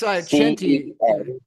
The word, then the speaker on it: CENTI: I would And remind us how Senti is spelled. It's Chenti, CEN, yeah, CENTI.